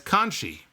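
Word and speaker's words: Conti: Same way Morrow pronounced Tainara Kanti as Kanchi, which is apparently how it is pronounced in Portuguese.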